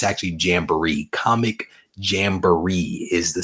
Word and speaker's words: Jamboree: It's actually Jamboree. Comic Jamboree is the spelling or the correct pronunciation, I should say.